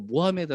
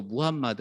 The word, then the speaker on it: 무함마드: 코란에 라고 함 싫어하고 무함마드 에 대해서도 영어식으로 모함 앳 어 라고 하면 굉장히 싫어 하구요 그래서 바른 그대로 무함마드 라고 해야 되고 그리고 코란 에